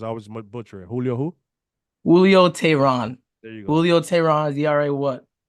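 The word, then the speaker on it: Julio Teheran: it's not bad another guy is you can pronounce his name because I was butchering Julio who Julio Tyron there you go Julio Tyron what was four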